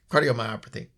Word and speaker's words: cardiomyopathy: U myopathy myop is that right yeah yeah cardiomyopathy same thing I discover I might want to learn how to pronounce it since I suffer from it too